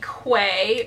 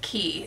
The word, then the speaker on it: Quay: These are the Quay, or Key, I think it's pronounced Key.